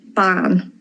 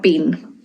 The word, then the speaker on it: bean: Ban not bean.